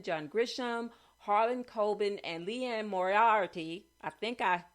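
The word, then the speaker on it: Liane Moriarty: mosley james patterson john grisham harlan colbin and leanne moriarty i think i pronounced her name right moriarty are a few of my favorite mystery thriller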